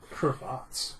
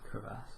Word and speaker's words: crevasse: Or whatever you pronounced it. Cravats. Yeah. Crevasse.